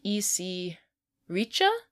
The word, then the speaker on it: Reiche: Some people say that the inventor was a Prussian immigrant named E.C. Reiche, I think is how you say it. R-E-I-C-H-E.